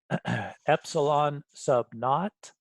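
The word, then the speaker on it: ε₀: Epsilon sub naught is how we pronounce this little guy, or that's how I say it.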